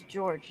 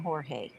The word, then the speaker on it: Jorge: But his name is George, not Jorge. Oh, well, hell, it ain't spelled like George, though. I know, but that's what she says. It's George, okay.